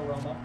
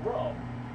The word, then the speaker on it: Rome: Definitely a Roma. It's, Alright. it's Rome. I thought it was Rome. Oh, How do you pronounce it? It's just spelled like Rome, like the city.